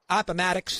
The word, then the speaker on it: Appomattox: Appomattox, I think I pronounced it right. Appomattox, that's correct.